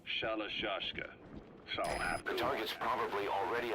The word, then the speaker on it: Shalashka: that because somewhere along the line, Shashka got stuck on the end of Sharashka. The gorillas were using the name amongst themselves. By the time I got to hearing about it, pronunciation had wound up as Shalashka.